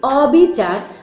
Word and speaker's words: অবিচার: অ এর মত হবে যেমন অবিচার অবিচারে ঠোঁট ফাঁকা হয়ে যাচ্ছে সেক্ষেত্রে আমরা ও টাকে